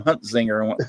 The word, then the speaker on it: Huntzinger: Matter of fact, I'm lucky that I pronounced Ben's last name Huntzinger. I said, no, if he called it Huntzingwalker or something, I'm going to be in trouble, because it sure looks like a Huntzinger to me.